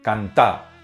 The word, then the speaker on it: cantá: en Argentina y Uruguay, principalmente cantá, con acento en la segunda A.